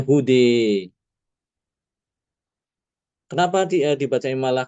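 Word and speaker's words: هُدًى: Namun kalau kita wakaf pada kata ee hude huda, nah ini baru ada imalah ya dibacanya hude.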